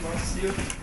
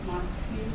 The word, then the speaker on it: Montesquieu: Is your name indeed Timothy Montesquieu?